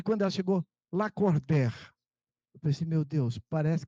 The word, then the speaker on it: Lacordaire: E ela foi disse, seu nome escreve Lacordaire e pronuncia Lacordaire.